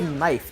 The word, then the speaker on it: knife: mean right it's like it's like when you say knife do you pronounce the k or the N I hate what you're saying here but it is the n why not the K